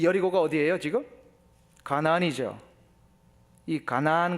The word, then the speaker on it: 가나안: 여리고가 어디예요 지금 가나안이이 가나안 가지고 발음을 카나안 그래 가지고 카나다 그는 분도 있어요 그래서이 정통 가나안의이 혈통을 이어받은 사람이 카나다 사람이다 뭐 그런 사람입니다 그게 아니고요 가나안이라는 것은 이스라엘